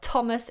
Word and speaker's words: Thomas: you'll know full well Thomas is pronounced with that strong T sound not a th you wouldn't believe how